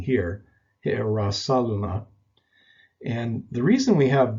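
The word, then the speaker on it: Ἱεροσόλυμα: The first spelling is pronounced with a rough breathing, and it's preceded either by the article ta or he. Either one, you'll find it spelled like this. The rough breathing is pronounced hi'arasaluma, hi'arasaluma. And this is a word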